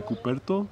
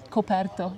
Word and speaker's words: coperto: The only thing you might encounter is the coperto. How do I pronounce it? Coperto.